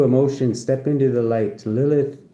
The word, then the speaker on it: Lilith: Lilith, pronounced Lilith, is known in Jewish mythology as the first created woman.